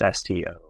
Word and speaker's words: Storr: Science of Storytelling by Will, I believe you pronounce his name, Storr. It's Storr.